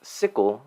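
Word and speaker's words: SIQL: same search in the SI iql or pronounced CLE language CLE stands for security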